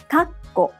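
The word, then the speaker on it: 括弧: Again, the pause need to take 1 clap. Kakko. But Japanese learners often omit the pause. In both of these cases, not only is the pronunciation incorrect, but the meaning of the words changes.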